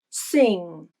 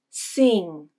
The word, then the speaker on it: sing: before a nasal consonant listen to how i pronounce the word sing sing the vowel is the e vowel but it doesn't sound like the pure i it sounds more like the e vowel sing the if vowel becomes